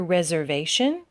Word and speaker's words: reservation: Coke reservation reservation again this s here sounds more like a Z reservation okay tion is always